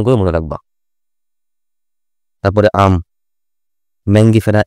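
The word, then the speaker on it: Mangifera: মনে রাখবা তারপরে আম ম্যাঙ্গিফেরা ইন্ডিকা নট ম্যাগনিফেরা ম্যাঙ্গিফেরা আম ইংরেজি কি ম্যাঙ্গো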